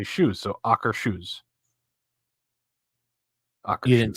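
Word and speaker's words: Akershus: the official Norway pronunciation she said it's like soccer shoes so you say AER Sho Soaker shoes yeah so AA shoes Sho because you wouldn't say soer shush no it's AER sh okay that doesn't sound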